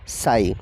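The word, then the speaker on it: psi: आर्म यानी कि पीएसयू जिसे शॉर्ट में हम प्रोनाउंस करते हैं साई आपको बता दें कि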